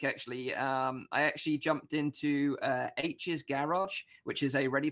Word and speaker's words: Aech: the virtual world, but his best friend in the book is called H, and it's spelled AECH, as in, and you pronounce it as H.